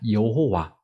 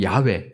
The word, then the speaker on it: 야훼: 하나님이 이름을 알려 주셨습니다 여호와 또 야훼 뭐 사실 야훼라는게 정확한 발음일 것이다 이렇게 요즘 보고 있는데요